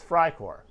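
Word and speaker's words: Freicore: r e i core it sounds like fry but that is the correct pronunciation i'm not going to roll my r's or anything cry core it's fry core oh someone's wanting someone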